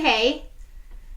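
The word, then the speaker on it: Haigh: name hager hay because i would say hey just because of how how the gh i know some last names that are kind of like that and the way that i would pronounce those yeah is that silent gh so let me know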